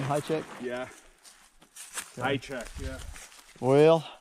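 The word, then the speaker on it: Hajicek: yeah is that how you say his name high check yeah i checked yeah well i'm going to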